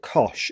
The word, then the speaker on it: cosh: Now this one here is like a hyperbolic trig analogue of cosine, and we call it cosh. It's basically cos with an h at the end. It's pronounced cosh x.